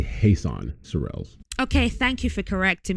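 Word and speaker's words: Jesan Sorrells: oh yeah so jason thank you for taking the time to talk to me so have i got your name pronounced right i'm not too sure it's actually hasan sorelles okay thank you for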